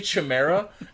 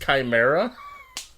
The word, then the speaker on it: Chimera: So anyway, they keep mispronouncing Chimera, which annoys me. They say Chimera, and I literally wrote, it's pronounced Chimera.